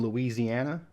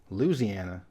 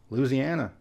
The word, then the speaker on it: Louisiana: people's pronounce this one Louisiana but a lot of the people that live there dropped the first I sound and pronounce it Louisiana so if the people